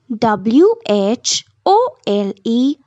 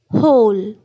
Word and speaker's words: whole: is silent n two H part w h o l e whole hole it starts with the her sound hole W is silent and whole